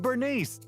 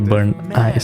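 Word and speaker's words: Burnice: young leader of a legendary biker gang, and Bernice, the master mixologist from the Outer Ring. But, they're still not here. Because the name is actually Burn Ice, so I thought we would pronounce it Burn Ice.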